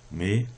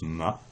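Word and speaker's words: 马: dans un ordinateur n'est pas écrit 1 3 mais 1 0 1 et à l'intérieur d'un ordinateur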